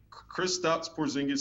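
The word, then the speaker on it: Kristaps Porziņģis: gonna do my best I believe it's chris stops porzingis um he's kristaps porzingis seven foot three latvian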